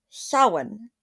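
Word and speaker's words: Samhain: was something that the ancient Kelts called sin. We spell it Sam Hayne. S A M H A I N.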